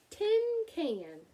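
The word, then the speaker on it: cinquain: jump right up tin can she shouted it's pronounced tin can she'd render real delighted I know it's tin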